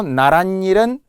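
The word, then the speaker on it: 나랏일: 파생어는 사이시옷을 적지 참고로 나란 일은 나란 일 니은니은 발음이 나며 고유어 고유어가 시옷이 들어가고요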